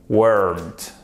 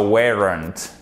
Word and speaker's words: weren't: La clé pour bien prononcer ce son, qui est sans doute le plus dur pour nous francophones, c'est de prononcer le E et le R en même temps. Weren't. Pas weren't. Non, weren't.